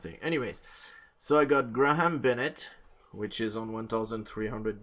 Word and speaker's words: Graham: Anyways, so I got Graham Bennett, which is on 1,300 days.